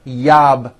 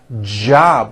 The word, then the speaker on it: job: at the beginning JB it's never yab my yab it's always my job with a strong J sound JB my job